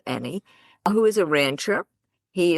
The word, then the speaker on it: Enney: So, we're here today with Kenny Amy and it's spelled E N N E Y but pronounced Eny who is a rancher.